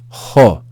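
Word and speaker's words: ὁ: that aspiration Mark or rough breathing is equivalent to the English consonant H so it's as if there's a letter H before this vowel the Omicron is pronounced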